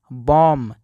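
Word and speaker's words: bomb: पढ़ेंगे दोस्तों लैम और इसको पढ़ेंगे बम यहां पे बी का कोई भी उच्चारण नहीं होगा अब देखते हैं कि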